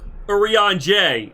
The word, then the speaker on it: Eorzea: Eorzea.